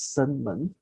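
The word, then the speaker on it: 生门: Life door, which pronounced as Shenmen.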